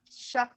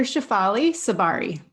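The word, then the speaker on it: Shefali Tsabary: Shakfali. How do you Yeah, say that? it's Dr. Shafali Sabari.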